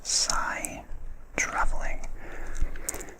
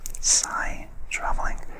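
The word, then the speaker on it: psi-traveling: The ability of a cat to find its way home is called sigh traveling. I'm not sure if I've pronounced that right. It may be a silent P, but it's spelled P-S-I, sigh traveling.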